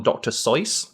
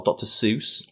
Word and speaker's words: Seuss: it's based on a famous book by one Dr so or Dr Seuss as it's often mispronounced is it so so yes he always